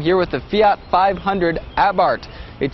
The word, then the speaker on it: Abarth: with the fiat 500 abarth it spelled a b a r th but the H is silent and the a is pronounced ah as in what happened